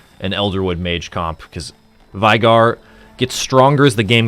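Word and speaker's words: Veigar: Vigar, not a Vigar. A Vigar. Not a vinegar. Vigar. A Vigar. I got a Vigar early game, decided to take that into an Elderwood mage comp, because Vigar gets stronger as the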